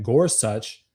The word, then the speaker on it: Gorsuch: if you guys heard about this, Justice Neil Gorsuch, and I actually had to Google how you pronounce his last name, Gorsuch.